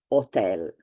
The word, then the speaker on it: hotel: in Italian it's pron it's pronounced otel without the H it is silent so the H is